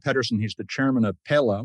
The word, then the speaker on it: Pela: he's the chairman of Pella which is uh pronounced a number of different ways but pela is the Spanish for peel which of course is